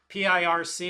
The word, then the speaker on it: Pirc: And if you look over here, P-I-R-C is pronounced Pirc.